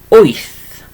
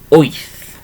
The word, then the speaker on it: wyth: Let's try number 8, okay, so number 8 is wyth, okay, wyth, and I'll write this one down for you.